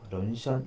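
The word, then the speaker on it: 人参: 그 차이를 아셔야 되고, 발음으로는 중국 발음으로는 션이라고 합니다. 런션 인삼을 의미합니다.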